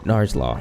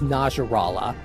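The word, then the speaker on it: Najarala: to fight this title nars law thing at I couldn't get out for some reason with all due respect attack that the correct pronunciation it's Nasrallah oh yeah I didn't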